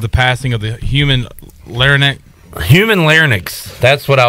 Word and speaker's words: larynx: There's no N in there? It is, but it's between like the Y and the X. Larynx. Larynx. How do you say it? Larynx. Larynx. It's larynx.